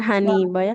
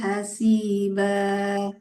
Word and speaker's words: حسيبا: حسيبا Bukan Haniba ya. Wa kafabillah. وكفى بالله حسيبا.